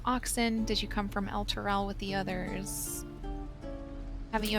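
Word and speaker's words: Elturel: I had quite a life in El Turel. Okay, that's how you pronounce Chewing that.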